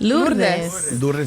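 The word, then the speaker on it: Lourdes: How do you How do you pronounce it? Lures.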